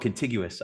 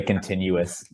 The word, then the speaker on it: contiguous: It's called contiguous. I never really could. Every time I saw that word, I could never figure out how to say it. I used to say continuous. Yeah. That's what I was like. Oh, I think most people do say continuous.